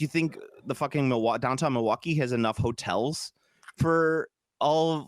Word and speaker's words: Milwaukee: I believe it's pronounced Milwaukee. Milwaukee.